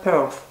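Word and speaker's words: Perth: Англичане поправили меня, когда я произносила Перт, и сказали, что город произносится Перф. Окончание «ц», конечно, не произносится, у них вообще Перф. И все.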